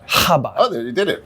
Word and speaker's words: Chabad: kabad of YouTube kabad CH is you don't even pronounce the C it's just kabad or kabad habad oh there you did